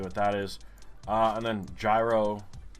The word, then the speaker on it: gyro: And then gyro. Spelled gyro. G-Y-R-O. Spelled euro. Well, pronounced euro.